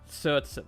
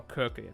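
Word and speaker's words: Circe: That was also one thing I was wondering about, because they have Cersei, right? They have, or Kirke, depending on how we want to say her name.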